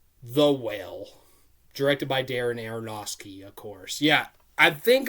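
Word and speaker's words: Aronofsky: his name right now I used to call him ainos aosi because there's an F in it but I think the f is silent so aeroski but Darren arosi yeah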